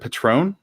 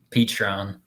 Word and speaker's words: Petron: keep wanting to say is it patron how do you say your name um petron petron okay i was saying wrong time so this is